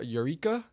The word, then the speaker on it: Eureka: Prospect Rosal Rosalia uh Eureka Eureka is how you say it and uh call Ceday and Millington in Kansas.